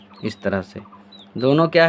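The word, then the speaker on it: ص: सौद। और इसका भी उच्चारण क्या होता है? सौ।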